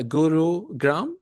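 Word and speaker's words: Gurugram: wrongly or correctly uh Guru gram is this how to pronounce it gurug gr yes sir that is gurug H okay okay gurug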